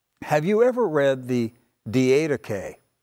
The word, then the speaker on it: Didache: the way now have you ever read the d8k it's spelled d-i-d-a-c-h-e d-d-k have you ever heard its